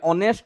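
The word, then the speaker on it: honest: ম্যান কাহি আন কইলি নাই উচ্চারণটা চেক করিবে অনেস্ট উচ্চারণ আমি করুন অরু আরম্ভ অনেস্ট বুঝে পারলে না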